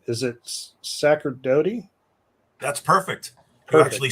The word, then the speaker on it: Sacerdote: on like 5, 4, and she goes, "It's Sacerdote, right?"